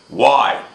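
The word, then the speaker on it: why: And look at this word over here, Y. This one's really crazy because all we really do is pronounce the Y at the end. We don't pronounce the W or the H.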